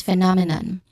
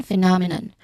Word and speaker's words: phenomenon: Here is the second syllable and is the stressed syllable here.